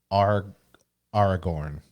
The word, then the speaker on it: Aragorn: That's Aragorn. Okay. I think that's how you pronounce it.